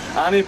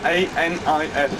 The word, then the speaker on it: Anif: So if somebody wants to make notes, Anif is spelled A-N-I-F, Anif.